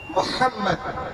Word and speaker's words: محمد: 80-90% لوگ مدرسے کو ہٹا دیا جائے تو محمد بولتے ہیں، محمد محمد، تلفظ صحیح کریں، بولیے محمد، ہاں نکالیے، محمد صلی